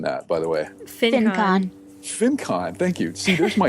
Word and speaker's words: FinCon: How are you pronouncing that, by the way? FinCon.